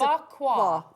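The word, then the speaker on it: bagua: It's a bakwa. I'm glad you pronounced that. It's bakwa.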